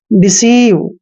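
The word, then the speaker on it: deceive: जैसे डिसीव, डिसीव में भी एक चीज कॉमन है कि ई आई के बाद, सॉरी, ई के बाद आई आया है, जब भी ई के साथ आई आता है, ई के साथ आई आता है तो ई आई का उच्चारण हमने बड़ी की मात्रा करना है, डिसीव।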